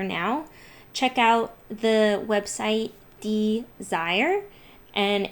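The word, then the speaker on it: DSIRE: rebates out there now check out the website desire and it's spelled d-s-i-r-e and that's a great website to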